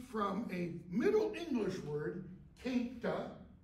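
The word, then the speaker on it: queynte: This comes from a Middle English word, quinta. You don't pronounce the U like qua, okay?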